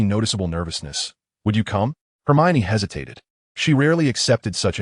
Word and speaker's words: Hermione: He was quite sure about the correct pronunciation. It's okay, Hermione said gently. It's Hermione. She slowed her speech and demonstrated clearly. Hermione.